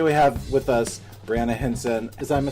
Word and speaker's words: Hansen: And today we have with us Briana Hansen. Am I saying it right? Mm-hmm. Hansen.